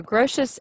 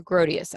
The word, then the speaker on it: Grotius: Grotius let's just our you'll hear grossest and you'll hear Grotius I've heard both pronunciations take your pick oh gosh this is